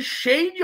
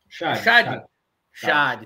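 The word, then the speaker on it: Schade: Começou ganhando com gol de Shade ou Chad, Leonardo? Como que fala? Como pronuncia esse nome? Porque no jogo do FIFA... Chad. Então tá bom. Então a EA Sport tá errando que segundo Leonardo Lopes.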